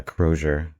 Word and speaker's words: Crozier: will uh uh pronounce the company as you pronounce it uh kroer uh going forward uh can you um kind